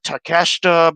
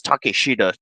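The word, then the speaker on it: Takeshita: Fire is takida like some people call him takasa but I just I just pronounce it as takesha takash because it sounds like a more more appropriate way it's the more accurate way to say a name because his name isn't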